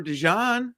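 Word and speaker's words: DeJean: or we could go Jason seahorn route Cooper dejan that's how you say it I was gonna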